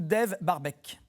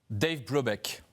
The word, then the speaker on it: Dave Brubeck: S'agit-il de Art Tatum, Kunz Basie ou Dave Barbech? Dave Brubeck. Bravo. Vous l'avez beaucoup mieux prononcé que moi.